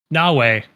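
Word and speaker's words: Naoe: It is Nawei. No, no, it doesn't look like it, but that's how it's pronounced.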